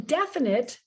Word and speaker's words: definite: And in definite, you don't hear the stress on the suffix ite, but in definition, now you get a stress.